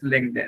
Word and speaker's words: LinkedIn: एल आई एन के ई डी आई N this is लिंक देन। ठीक है? तो अभी आप जस्ट इसके स्पेलिंग्स को याद करें और दोबारा से टाइप करें चैट के अंदर ये स्पेलिंग्स।